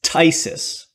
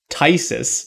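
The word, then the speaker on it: Phthisis: i don't like guessing all right this uh pronunciation is tysis no all right spelling for tysis uh carmen you got the beginning correct uh i thought you were i thought you're gonna bring it home p-h-t-h-i-s-i-s tysis how could i have missed it i know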